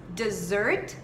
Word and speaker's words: dessert: Mas o resto é basicamente igual, só que acaba mudando completamente a pronúncia. Claro que o significado também é totalmente diferente. Então vamos lá, mais uma vez. Dessert, dessert e desert.